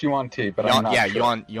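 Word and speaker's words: Yuan-ti: believe that it's probably jung-tae not lizard folk okay I think it's pronounced you want tea but yeah you want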